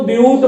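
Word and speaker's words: but-: आप इसको बट का उच्चारण नहीं दीजिएगा, बट कहेंगे गलत होगा, आप यहां पर इसको ब्यूट बोलेंगे।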